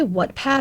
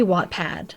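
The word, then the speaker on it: Wattpad: to say it and did I say whatpad or watpad it's supposed to be watpad I got schooled by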